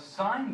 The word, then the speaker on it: sine: But the sine function on your calculator, the button, it looks like this. Everyone pronounces it sin, but it's sine.